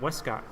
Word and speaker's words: Westcott: with one of the creators and brewers, John Westcott. Did I pronounce that correctly?